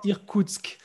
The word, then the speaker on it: Irkoutsk: Alors, je ne saurais pas prononcer ce nom, c'est Irkoutsk. Comment on dit là? Alors, je travaillais à Irkoutsk.